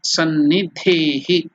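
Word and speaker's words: सन्निधेहि: It is Sanni, S-A-N-N-I, D-H-E-H-I, Sannidehi, D-H-E-H-I. So how to pronounce it? Iha, that is here, Sannidhehi, Sannidhehi.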